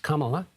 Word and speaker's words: Kamala: a victim of it vice president kamla Harris pronounced Kamala also focused on the economy in her rally